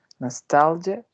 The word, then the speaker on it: nostalgia: And the last one is nostalgia, and it got 3 syllables, and the prominent is in the second one.